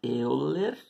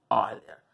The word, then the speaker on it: Euler: Escreve-se Euler, mas pronuncia-se Euler.